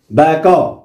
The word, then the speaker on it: بكى: الإبدال مثلا نقول هناك بكى، كلمة بكى، ماذا نتقنا؟ با، بعد ذلك كاف، ثم نتقنا ألف. بكى، نتقنا بألف، بكى، هكذا بكى هذه، ولكن غيرناها إلى ياء غير منقوطة، صحيح. فلا بد أن يعني مثلا نقول يحيى، على آخرها ننطق ألف ونكتب ياء، فهذا هو التحويل.